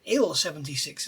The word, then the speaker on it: Il-76: Su and it's Sue we we should say the first letters how they're pronounced when the manufacturer so it's bit ill 76 isn't it um and it would